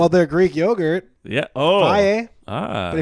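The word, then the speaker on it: Fage: Faye. Ah. But if you pronounce it like a American, you'll say fag, That's true.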